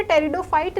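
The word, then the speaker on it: pteridophyte: तो इनमें से कौन सा है जो टेरिडोफाइट नहीं है? ये इन्होंने पूछा है। तो मार्सिलिया टेरिडोफाइट है। ठीक है? इट इज़ अ टेरिडोफाइट। Ferns भी टेरिडोफाइट है। टेरिडोफाइट की स्पेलिंग में पी साइलेंट होता है।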